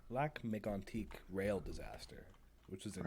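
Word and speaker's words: Lac-Mégantic: we're talking about the let's pronounce this correctly because it's French the what would help make antique right yeah black Mig antique rail disaster which was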